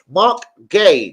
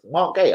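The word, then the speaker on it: Marc Guéhi: actually say it now I don't care which H and I you want to put in it it's Mark Gay I think I actually do believe that is the way you pronounce it linked with Arsenal Man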